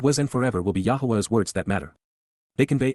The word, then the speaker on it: Yahweh: apart from men except yah Yahweh the proper pronunciation of the name of eloah God as directed in his